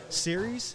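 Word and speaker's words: Ceres: into beer number one which is series is that how you say it Josh yes it's the uh goddess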